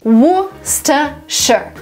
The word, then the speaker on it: Worcestershire: Worcestershire. Would be the right way to pronounce this word.